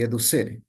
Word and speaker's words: educere: Esa es la definición de por lo que significa mejor el término educere o, bueno, algunos lo pronuncian de diferente manera, pero yo le digo así, educere.